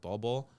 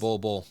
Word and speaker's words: Bol: Yeah, and much like the Suns right now, especially after they signed Bol? Yeah, Bull. Yeah. So I was like, did I pronounce that wrong?